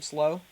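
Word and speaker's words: Slough: men let me see us is is it pronounced slow last name slow okay those guys yeah um slow liberty heard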